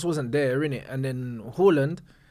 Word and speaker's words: Haaland: And then Haaland, like, just is what it is, bruv.